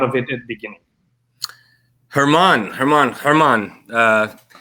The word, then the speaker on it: German: Herman, also spelled German.